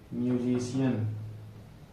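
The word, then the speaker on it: musician: मतलब जब भी सी के बाद क्या आएगा, IA आएगा तो क्या हो जाएगा, उच्चारण सा हो जाएगा।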